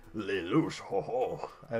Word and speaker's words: Lelouch: Apparently it's Lelouch. Ho ho. I like it. I actually like his name pronounced that way because it sounds like French and I like it.